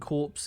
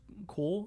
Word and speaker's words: corps: And corpse is just core? Is it just core and you don't pronounce the P? Or is it corp? No P is said.